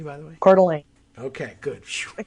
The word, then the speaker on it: Coeur d'Alene: correctly by the way quarterly okay good just like apple core okay because it's idaho yeah core not core core although cooler maybe because